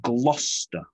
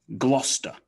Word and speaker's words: Gloucester: cester but no we reduce it to one syllable to simply star so gloucester bit of information about gloucester it was founded